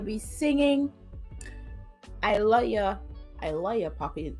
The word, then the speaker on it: I Luh Ya Papi: I Love Ya, Papi. That's exactly how it's pronounced, guys, and how it's spelled. I Love Ya, Papi. Not I Love You, Papi.